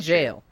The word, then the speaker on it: Gaol: You're saying jail, but it's That's how it's Gaol. pronounced. It's pronounced jail? Okay. Correct. It's pronounced jail.